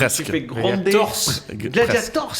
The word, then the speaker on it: Gladiators: Gladiators, il faut dire.